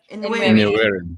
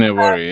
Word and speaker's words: Nwaneri: Nwaneri. Ethan Nwaneri, yeah.